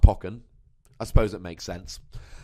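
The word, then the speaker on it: Pokkén: poke Pock and tournament I'm told it's pronounced pocken I suppose it makes sense um but if you pronounce it pokon I won't hate you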